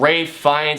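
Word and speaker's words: Ralph Fiennes: is yeah he's hysterical in it you have Ray fees I finally pronounced his name correctly you have yeah you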